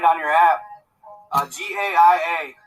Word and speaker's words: Gaia: Uh G A I A. It's pronounced Gaia.